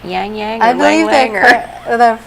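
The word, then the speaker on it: ylang-ylang: this has is that ylang ylang any is that how you pronounce that Yang Yang the way the French say it is oh well I've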